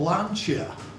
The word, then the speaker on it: Lancia: they were from italy um they were called lancia which is the correct pronunciation valencia so we're all familiar with lancia